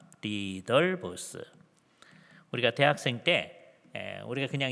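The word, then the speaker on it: Ridderbos: 하는 신약 학자가 있었는데요 리더 보스라고 발음을 합니다 리더 보스 우리가 대학생 때에 우리가 그냥 이거를 우리 식으로 영어식으로 발음해 가지고 리델보스 이렇게 했었었고 그래서 이제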